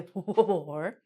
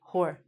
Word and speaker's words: whore: Please notice the W is silent. We don't say whore. We just say whore.